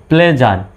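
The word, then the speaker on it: pleasure: সুতরাং এখানেও এসের উচ্চারণ জ্বর মতো, SURE জার উচ্চারণ হবে। মেজার, মেজার মানে বন্ধ বা অবসান, লেজার মানে অবসর, প্লেজার, প্লেজার মানে হচ্ছে আনন্দ, আর মেজার মানে পরিমাপ বা মাপ।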